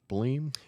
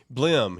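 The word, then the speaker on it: Blehm: Help me pronounce his name. Is it Eric Bleem? Blim.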